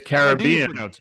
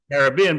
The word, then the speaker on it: Caribbean: It's Caribbean. Yeah. It's Caribbean because it's the Carib Indians and the Arawak Indians who were the 2 tribes that were occupying Jamaica when the invaders arrived.